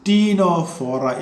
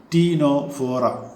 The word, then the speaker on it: Ctenophora: Then the next phylum is Ctenophora. Again C silent. Ctenophora.